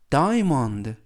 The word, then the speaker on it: diamond: 표현이 되겠습니다 2번 표현은 Diamond DI DI라고 발음하시면 되겠고요 이때 유의하실 점은 알파벳 a 음은 아니지만 발음할 때 거의 발음이 하지 않습니다 그래서 다이아몬드가 아니라 Diamond diam라고 발음하시면 되겠고요 품사는 명사 뜻은 다이아몬드라는